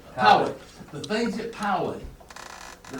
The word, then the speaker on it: Poway: Poway.